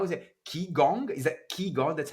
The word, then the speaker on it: qigong: it, qigong, is that qigong, that's how you say it, qigong, Qigong. chi, so the Actually, q is a chi. it depends on the spelling. So the QI is actually Mandarin, and the chi as